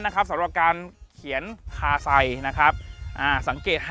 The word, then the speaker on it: KASEI: ตัว นี้ ฟ้อน ตัว หนังสือ ตัว นี้ นะ สะกด ง่าย เลย KS di แบบ นี้ ดี นะ KS AI ไม่ ใช่ ไม่ ใช่ คาไซ นะ ครับ อ้า นี่ ต้อง เป็น แบบ นี้